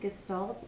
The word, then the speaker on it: Gestalt: Gestalt, I'll spell that, G-E-S-T-A-L-T, Gestalt therapy.